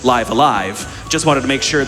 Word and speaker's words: Live A Live: from mint for $10 who says it's actually pronounced live alive just wanted to make sure that no one